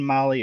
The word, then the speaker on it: Mahle: Again, Molly is spelled Mahle.